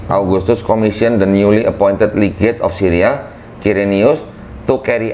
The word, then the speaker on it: legate: Itu bacanya bukan ligate kok. Hah? Bukan ligate bacanya. Mana? Bukan ligate, itu bukan ligate itu. Appointed ligate, bukan ligate. Appointed legate? Bukan ligate itu bacanya. Legate. Oh, legate.